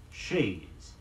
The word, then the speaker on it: chaise longue: the First World War chaise longue is a French term which has been somewhat Americanized in pronunciation but hasn't taken our final citizenship papers the first word is pronounced shades CH a is e and means of course chair and the second word long l om gue means of course long it's a sort of